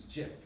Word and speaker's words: GIF: says here actually somewhere soft G like the peanut butter commercial choosy mom's choose jiff she's shaking her head